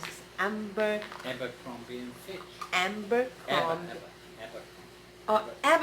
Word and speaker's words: Abercrombie: This, and another Narciso, this, and I have a, how do you pronounce this? Abercrombie and Fitch.